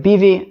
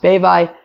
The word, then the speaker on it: Bevai: You might, in wherever you're reading, it might say Rav Bivi. That's also acceptable. There is a note on Daf Vav Mud Aleph of Masechta Brachos, the first time where Rav Bevai comes up, that says it's specifically pronounced Bevai.